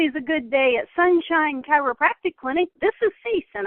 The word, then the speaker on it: chiropractic: And by the way, the word chiropractic has 4 syllables. The faster you say it, we're not educating people how to say it correctly. So when you say chiropractic fast, that's what they hear, then we're putting wrong information out there. Chiropractic. It takes 4 syllables to say that correctly.